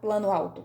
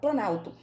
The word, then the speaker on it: planalto: Eu não falo plano alto, eu falo planalto.